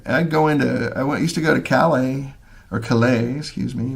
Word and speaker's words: Calais: I used to go to Calais, excuse me. The British put the emphasis on the wrong syllable.